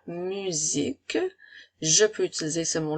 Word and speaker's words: musique: son puisque elle a une voyelle de chaque côté la lettre U et la lettre I sont des voyelles alors à ce moment-là la lettre S va faire le son à la musique je peux utiliser ce